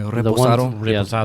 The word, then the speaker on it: reposado: Is that how you pronounce that? Yeah. Reposado.